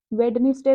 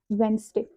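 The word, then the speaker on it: Wednesday: ना ये क्या है वेडनेसडे बच्चे बोलते हैं इसको लेकिन ये पता है क्या होता है ये होता है वनस वनस ये जो डी है ना ये साइलेंट वेनसडे प्रोशन का कोर्स भी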